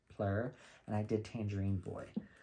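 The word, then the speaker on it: Phlur: introduction to this brand I believe it is pronounced plur p-h-l-u-r plur and I did Tangerine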